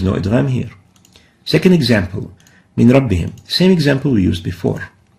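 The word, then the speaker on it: من ربهم: So pronounced as min rabbihim, but still written as a noon and a ra. But we pronounce it as if there is no noon.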